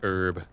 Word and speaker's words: herb: Pronounced herb.